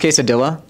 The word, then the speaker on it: quesadilla: It's pronounced quesadilla.